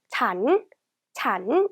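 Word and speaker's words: ฉัน: 자, 먼저 일반적으로는요, 잔 이렇게 발음해요.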